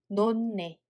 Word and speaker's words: 놓네: What about the second one? 히읗 받침 changes to nu sound 받침, so we read it as 놓네, 놓네.